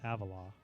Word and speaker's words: Avila: i think it's avila i think they pronounce it owen avila okay and then number